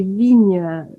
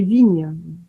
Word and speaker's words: Vignes: Mon nom de famille, c'est Vigne, comme les vignes, avec oui. un S à la fin. Et souvent, on dit Vignes.